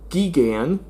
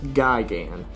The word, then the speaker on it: Gigan: Another interesting fact, I used to call this guy Geigan because uh me and my dad thought that's how his name was pronounced. It wasn't until years later I found out it was actually pronounced Gigan, not Geigan.